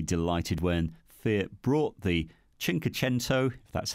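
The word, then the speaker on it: Cinquecento: I was really delighted when Fiat brought the chinko tent oh that's how you say it the 500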